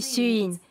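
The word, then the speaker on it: Siyun: Mon nom chinois est Suin. est mon nom de famille et mon prénom c'est Suin.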